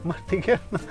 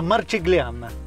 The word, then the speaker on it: Marchigiana: Martiquiana, no se dice así. ¿Qué, cómo se dice? La Marchigliana.